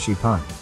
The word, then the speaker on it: XPeng: car that can fly the company calls it Spang pronounced shipon the vehicle can fly